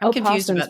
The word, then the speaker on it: opossum: They are opossums, but you don't pronounce the O.